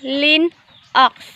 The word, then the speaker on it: Linux: macentosh computers or max linux pronounced lin x is a family of